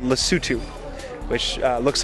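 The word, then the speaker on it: Lesotho: South Africa and also in a country called lutu which uh looks like it should be pronounced L though but it's lutu which is a tiny little country that's inside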